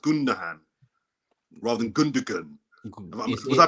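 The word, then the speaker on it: Gündoğan: Is it pronounced Gundogan rather than Gundogan? Was I pronouncing it correct?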